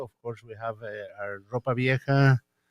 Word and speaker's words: Ropa Vieja: Besides those two, of course, we have our Ropa Vieja. How do I pronounce that? This Roja Vieja. Ropa Vieja.